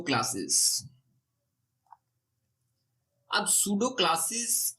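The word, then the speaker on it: pseudo: अगर नोटिस करें तो मैं पी को साइलेंट कर रहा हूं तो पी साइलेंट है सूडो नहीं है सूडो क्लास इसको रीड आउट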